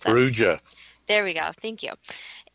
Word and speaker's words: Perugia: to mispronounce this, Dad, do you want to pronounce that? Perugia.